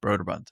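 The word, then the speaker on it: Brøderbund: Broderbund? Broderbund. Broderbund.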